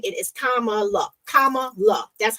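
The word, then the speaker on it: Kamala: more about her um for those that can't pronounce her name it is kamaa K La that's how you say her name um my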